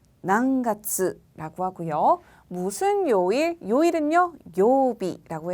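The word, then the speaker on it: 何月: 난가츠, 난가츠라고 하고요.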